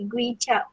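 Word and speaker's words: koe-chiap: Perkataan kicap didakwa berasal daripada bahasa Hokkien yang iaitu ejaan dia kuih cap, tapi dia punya cara baca dia K-O-E tu bunyi dia gui cap yang bermaksud sos ikan.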